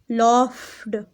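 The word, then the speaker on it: laughed: अच्छा, यहाँ GH को आप देख ले, यहाँ साइलेंट नहीं है, ये F साउंड दे रहे हैं। कौन सी साउंड दे रहे हैं? F, लॉफ्ड, लॉफ्ड, लॉफ्ड, ठीक है।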